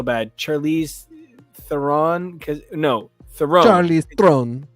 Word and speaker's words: Theron: Charlize Theron. It should sound like Throne.